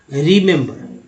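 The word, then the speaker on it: remember: देखिए यहाँ पर 3 ई, 1 ई, 2 ई और 3 ई, तीनों ई का उच्चारण एक ही वर्ड मीनिंग में डिफरेंट तरह से हो रहा है। उच्चारण करते हैं रिमेंबर, यानी पहला ई का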